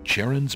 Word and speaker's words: Charon: And they pronounce Charon correctly. I love it. A lot of people just pronounce it Charon or something like that.